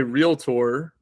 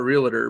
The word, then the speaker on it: realtor: when you become a realtor, and that is how you say it. It's not realtor, by the way. We'll just throw that in there for everyone out there that doesn't pronounce it correctly.